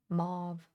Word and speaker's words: mauve: Yeah, in the UK it rhymes with stove. Move mauve.